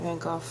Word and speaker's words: van Gogh: Anyways, I used to say Vincent van Gogh, and I am a Whovian. I love Doctor Who, and in the Van Gogh episode, they pronounced it Gough, and ever since then, whenever I hear someone say go, I mentally correct them.